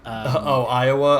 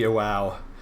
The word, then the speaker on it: Iwao: I think Mikami-san, and I always pronounce his name incorrectly, and you point out that I pronounce it like a state in America. RT. Iowa. I think it's Kenichi Iwao.